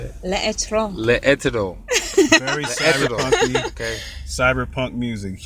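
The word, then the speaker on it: L'Etre: How do you pronounce it? How do you say it? L'Etro.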